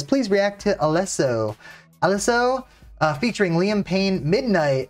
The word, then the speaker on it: Alesso: Italian pronunciation, Alesso. I feel like I'm saying it right.